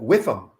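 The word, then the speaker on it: WIIFM: And there's an acronym, WIFM, W-I-I-F-M, W-I-I-F-M, and I always pronounce it WIFM.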